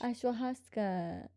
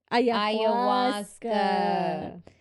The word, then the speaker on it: ayahuasca: Ashwahasca. No. Yeah, go on a retreat with him I and don't do think the you're saying it right. ashwahasca. I think I am. No? Ayahuasca.